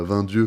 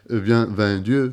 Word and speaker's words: Vingt Dieux: Vraiment, pour le coup, le film tire son titre d'une expression locale qui se prononce pas 20 dieux comme nous on aime le dire poliment, mais 20 dieux.